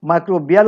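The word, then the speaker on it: microbial: যাই হোক, এটা ইংরেজি শব্দ, কেউ মাইক্রোবিয়াল উচ্চারণ করবে, কেউ মাইক্রোবায়াল উচ্চারণ করবে, একই কথা।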